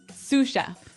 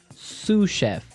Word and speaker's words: sous chef: That brings us to our second word, sous chef. Sous chef. Sous chef. Sous chef. S-O-U-S. So the S is silent because it's like a French word.